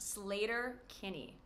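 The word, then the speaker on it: Sleater-Kinney: This American rock band, known for their feminist lyrics, is pronounced Slater Kinney.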